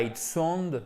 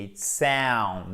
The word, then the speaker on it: sound: Et ce n'est pas it sound, non, c'est it sound. Là aussi, on a une diphtongue exactement comme le taste, comme le A dans taste.